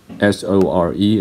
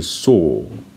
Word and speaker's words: sore: Americans say soar. British people say saw. So in British English, these two words, S-O-R-E and S-A-W, have exactly the same pronunciation. In American English, they're not the same. So the first one is soar, the second one is saw for American English. But for British English, they have the same pronunciation, saw and saw.